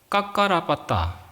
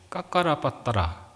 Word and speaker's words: 까까라빠따: 그 꼴리아 성읍에 까까라빠따, 까까라빠따라. 좀 발음하기 힘들죠? 따라해보세요. 까까라빠따라. 까까라빠따. 빠따를 깎아라. 이렇게 외우면 되겠죠?